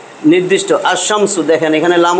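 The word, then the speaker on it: الشمس: যে আমি এই দেখেন যদি আস শামস লেখি লাম উচ্চারণ হইতেছে না কিন্তু আসমসু এই যে শামসু মানে সূর্য দেখেন সূর্যটা লিখছি আমি সূর্য টিম আলিফ লাম দিয়া তো টি টা টি নির্দিষ্ট আসমসু দেখেন এখানে লাম উচ্চারণ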